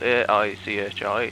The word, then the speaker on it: Aichi: It's spelled A-I-C-H-I, Aichi.